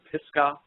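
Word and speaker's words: Pisgah: and I found out it was called the pisca crater area and that's spelled p i s g a Ag and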